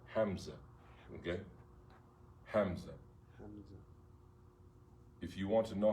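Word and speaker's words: همزة: Hamza. If you want to know how to spell it, it's Alif, Lam, Ha, Mim, Za, or Zay, okay?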